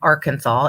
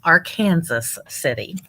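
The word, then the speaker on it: Arkansas City: our kansas city and no it's not arkansas even though it's spelled arkansas it's our kansas city and um so i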